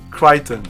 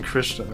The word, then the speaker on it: Crichton: In the US, we pronounce his name Crichton. Oh, okay, I guess. Yeah, Michael Crichton? It's fucking Christian, okay?